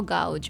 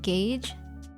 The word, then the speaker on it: gouge: God no don't think that's gge how to pronounce go get gge gouge oh gouge okay and the submarine insid looks like a room I know right is it like Gage I think it's different no G gouge what